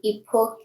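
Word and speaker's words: époque: How do you spell that? Sweet is s o i g n e. Epoch is e p o q u e.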